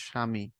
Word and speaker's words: স্বামী: আবার কখনো কখনো বফলার উচ্চারণ বহাল থাকে না, যেমন হচ্ছে তোমার এই যে স্বামী, বহাল থাকে না।